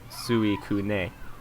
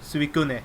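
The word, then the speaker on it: Suicune: losing their minds like it's not pronounced like that it's like well suane like hurricane Su well if we're pronouncing it no if we're pronouncing it as it would sound in Japanese it' be like suun oh suun yeah but I mean I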